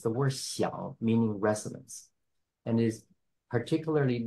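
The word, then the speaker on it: 響: So it's pronounced as xiang, the word home. And here is a word that has the same pronunciation with a slight slightly different intonation. It's the word xiang, meaning resonance.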